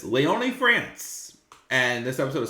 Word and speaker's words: Lyon: 2024 taking place in as I heard correctly pronounced last night Leon France you what I'm saying lion France wherever I I said in the preview but it's Leon France and this episode of SmackDown took place